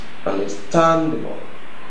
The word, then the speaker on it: understandable: Remember that the word understand has the stress on the last syllable. So even if you add the suffix able, the suffix able doesn't affect where the stress, or it doesn't shift the stress.